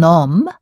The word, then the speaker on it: homme: For example, un homme, a man, has a mute H, whereas un haddock has an aspirated H.